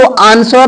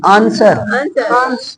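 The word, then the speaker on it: answer: देखिए W silent, S के बाद W साइलेंट होता है, जैसे इसको आंसर नहीं बोलेंगे, आंसर, लोग आंसर बोलते हैं, लेकिन आंसर, आंसर मीन्स जवाब।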